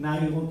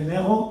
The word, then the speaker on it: Nairo: être à côté de Nairo Quintana. Et vous qui prononcez Nero, alors vous diriez Nairo Quintana.